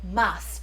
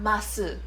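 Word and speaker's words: ます: But she said, when you're in my class, you will say mas, not masu. That's strict. Because in Kansai, most people casually like, oh, ikimasu. Masu. This elongated sound. And she was like, no, ikimasu. Mas. That's how you say it.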